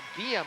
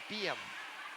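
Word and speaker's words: Beahm: And Rasmussen, notes played in by Emily Bram, and now Beam is her name. That's pronouncing that wrong. B-E-A-H-M, Beam.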